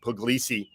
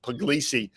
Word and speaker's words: Puglisi: It looks like easy gas, where I think I wrote that when Puglisi, got to put the word glee in the pronunciation there, Puglisi, when he throws the